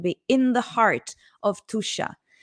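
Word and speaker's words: Tuscia: in the heart of tusha this is pronounced tusha and tusha is precisely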